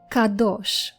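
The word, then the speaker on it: קדוש: Kadosh. Kadosh. Kadosh means sacred or holy. Kadosh.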